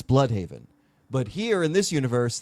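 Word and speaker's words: Blüdhaven: The way he pronounced Blude Haven, it's Blood Haven.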